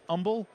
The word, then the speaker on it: Humble: I'm told it's pronounced Humble, but let me tell you, you got to be humble to live in Humble.